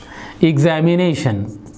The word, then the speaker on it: examination: For example, examination, examination, examination, examination, stress is on N.